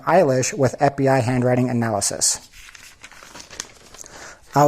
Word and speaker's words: Eilish: on the eye because Eilish is pronounced very similarly to eyelash.